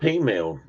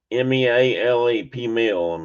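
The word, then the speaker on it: peameal: Anyway, but they're not pea meal. So everybody calls it Canadian bacon. And no, I've never heard of female bacon. Not female, Tina, it's P-mail. P-E-A-M-E-A-L-E, P-meal.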